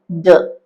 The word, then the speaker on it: do: ഇതിന്റെ സ്ട്രോങ് ആയിട്ടുള്ള ഉച്ചാരണം ഡു ആണ്, ഡു. പക്ഷെ ഇതിനും ഒരു വീക്ക് ഫോം ഉണ്ട്. അവിടെ നമ്മൾ ദ എന്ന് മാത്രം പറഞ്ഞാൽ മതി.